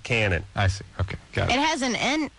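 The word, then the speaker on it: Cañon: pronounce that there ISC it is pronounced Canyon but they call it Canon I see okay got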